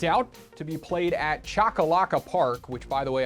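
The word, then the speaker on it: Choccolocco: to be kicked out to be played at chakalaka Park which by the way I did the research and yes that's how you pronounce it in Oxford Alabama from Tuesday May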